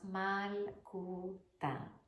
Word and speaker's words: Malkootah: But it is pronounced Malkootah.